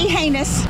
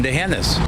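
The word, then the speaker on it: D'Hanis: Not the heinous. A common mistake, but wrong. And remember, there's no anus in Dehennis.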